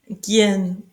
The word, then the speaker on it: gehen: Ici, gehen, le H est muet, gehen, aller, go, or, oreille, ear.